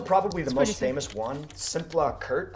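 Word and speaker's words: Szimpla Kert: the most famous One simpla Kurt I believe is how you say it we had a nice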